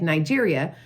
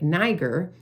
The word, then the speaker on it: Niger: Because originally it was a French region, and so they don't pronounce it like Nigeria, like Niger. It's pronounced like a knee. Think of your kneecap. Niger, okay?